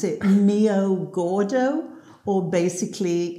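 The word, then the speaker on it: meio gordo: So basically, this is called, pronounce it mio gordo, or basically it's semi-skimmed milk.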